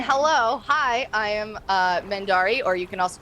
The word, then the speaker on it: Mendarii: so and then hello hi i am uh mandari or you can also call me because